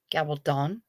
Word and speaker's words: Gabaldon: Gabaldon. Trying to remember the emphasis on the last syllable of your last name.